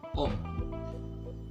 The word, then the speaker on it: om: Uncle in Bahasa, it would be om. That's right, very simple, om. Yeah, just like the O and M, pretty easy, right?